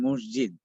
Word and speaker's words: মসজিদ: আর মসজিদ তাহলে মুসাল্লাটাও তো মসজিদ শব্দটা খেয়াল করেন শব্দটা কিন্তু মসজিদ না মাসজিদ শুদ্ধ উচ্চারণ করলে কিন্তু অর্থ ব্যক্তি হয়ে যাবে শব্দটা হল মাসজিদ আমরা অধিকাংশই দেখা যায় শব্দটা নিয়ে গাফলতি শব্দটা হল মাসজিদ আমরা অনেকে বলি মসজিদ অনেকে বলি মসজিদ মসজিদ